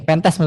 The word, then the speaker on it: pentest: ISAF ini adalah juga framework yang dapat digunakan untuk mengevaluasi jaringan dengan pendekatan tipe nih, pentest bukan pentet ya. Ganti. Nggak elok bacanya.